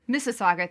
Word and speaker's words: Mississauga: based in uh i'm going to try to pronounce this correctly uh masu mississauga mississauga thank you a city west of toronto canada